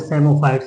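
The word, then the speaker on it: psammophytes: यहां पर आते हैं सेमोफाइट्स। इसको पी साइलेंट है।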